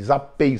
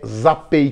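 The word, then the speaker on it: Zapy: vídeo é para aplicativo Zap zapi se diz se escreve Zap Y é zapi que se diz não te preocupa com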